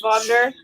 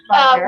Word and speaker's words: Wagner: German name, It's pronounced Wagner. Wagner, Was yeah.